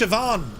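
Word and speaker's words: Siobhan: what I mean yeah it's pronounced sioban as in you know sioban your trousers um right here we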